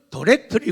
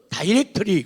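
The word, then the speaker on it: directly: 어떻게 봤는가 하면 디렉트리, 미국 사람들은 디렉트리 그러고 영국 신사들은 다이렉트리 그렇게 발음을 해요.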